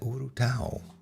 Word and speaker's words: urutau: And Fernando mentions a bird, a horrible bird, a cousin of the owl called the urutau in Brazil, where he lives, I guess. I've never heard of that, urutau. Am I pronouncing it correctly?